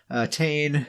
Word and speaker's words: Tane: Tane is his name, spelled like Wayne, but with a T.